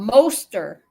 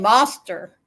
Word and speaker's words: Moster: And Will Fly said, Paramount USA, it's a monster, rhymes with ghoster. See, I'm saying it wrong. A moster rhymes with ghoster. And I'm saying monster.